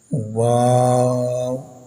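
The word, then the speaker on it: و: on top wow and remember pronounce wow by making lips sound please read after me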